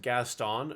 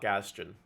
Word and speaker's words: Gaston: It's pronounced Gaston, not Gaston.